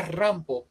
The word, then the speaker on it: Rampo: que hizo fue que combinó la pronunciación del nombre pom con la pronunciación japonesa que sería Rambo y entonces pues de